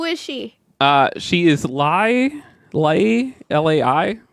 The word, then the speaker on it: Lai: She is Lai, L-A-I. How do you pronounce that?